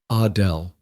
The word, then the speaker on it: Adele: She pronounced it the French way, Adele.